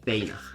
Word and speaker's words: Fana: name is Banner in Swedish but it's pronounced feyna in this case we were the same thing